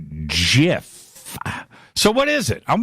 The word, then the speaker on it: GIF: we dividing so it's so gif as in god as in gay as in good graphical interface file hard g right yeah gif sounds